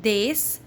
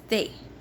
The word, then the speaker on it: des: Here we are not pronouncing S, so it is not des, it is they, and it means the or some, mostly some, not they.